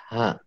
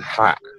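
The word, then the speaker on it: ح: Ain dan ha. Baik. Ha. Kemudian cara pengucapan seperti apa, Pak Sirun? Cara pengucapannya untuk huruf ain tidak mengeluarkan suara nafas.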